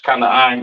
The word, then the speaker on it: Canaan: Excuse me, Canaan in the English, Kanaan in the Hebrew.